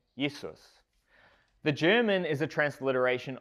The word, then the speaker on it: Jesus: transliteration or English version of the German name yesus the German is a transliteration of Latin Jesus